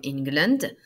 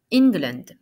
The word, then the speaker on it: England: le répéter après moi ingland England donc voyez c'est écrit en mais ça se prononce comme si c'était in England English Scotland Waze